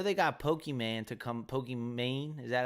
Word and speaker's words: Pokimane: Pokimane, is that how you say her name?